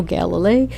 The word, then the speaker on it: Galilei: June 22nd is Teachers' Day in El Salvador, And in 1633, Galileo Galilei, how do you pronounce Galileo's last name? I usually say Galilei myself.